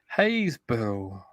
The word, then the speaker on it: Happisburgh: Happisburgh equals Haysborough.